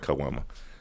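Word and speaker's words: caguama: know the big ones how do you say it a kwama that's what it's called kwama so you drink this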